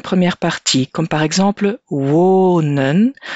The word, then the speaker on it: wonen: Il faudra faire attention avec les verbes qui ont un son long dans la première partie, comme par exemple wonen. Le son est long parce que la syllabe est ouverte.